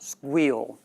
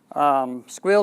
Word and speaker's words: Sguil: another 1s GUI L which is pronounced squeal squeal has been around for